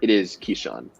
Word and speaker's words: Kyshawn: I have a tweet right now that gives me all of the right pronunciations of the prospects. So. Oh, nice. It is Kyshawn.